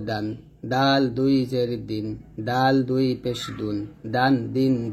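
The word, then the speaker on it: دال: এখন শিখবো হচ্ছে দাল। দাল জিহ্বার আগা সামনের উপরে দুই দাঁতের গোড়ার সঙ্গে লাগিয়ে উচ্চারণ করব, তার মতো দাল।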